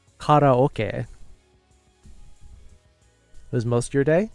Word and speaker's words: karaoke: It's karaoke.